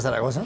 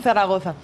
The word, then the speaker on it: Zaragoza: bienvenida est mesa como Muchas gracias Cómo se pronuncia Zaragoza Zaragoza Zaragoza de hecho soy de Gea de los